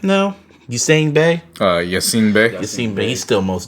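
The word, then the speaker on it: Yasiin Bey: Yassine Bey.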